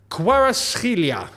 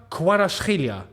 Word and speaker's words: Kvaratskhelia: Kvisha Kvaratskhelia is how I think you actually say his name. And there's not a lot of people that can pronounce the ch, right?